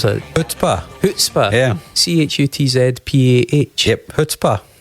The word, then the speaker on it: chutzpah: 2009, they bring out an album called Chutzpah. How do you pronounce that? Chutzpah.